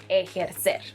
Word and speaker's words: ejercer: Another verb is, no, this is not pronounced ejercer or ejercer. It's pronounced ejercer, and it means to exercise.